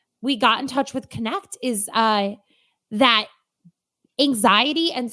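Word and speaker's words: Knecht: haven't spelled this every time it's k-n-e-c-h-t cht pronounced connect connect chiropractic they are offering quality chiropractic care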